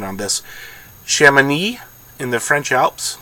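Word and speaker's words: Chamonix: my pronunciation on this chemin e in the French Alps there's an X at the back of it I believe it's shaman II I believe I also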